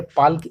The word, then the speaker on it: Palk: अब आपको पाक की स्पेलिंग याद रखनी है, PALK, ठीक है। पाल्क स्ट्रेट भी इसे कहा जाता है, लेकिन इसको पाक स्ट्रेट हम पढ़ेंगे, पाक जल डमरू मध्य।